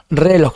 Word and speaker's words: reloj: Reloj, no es reloj, es reloj.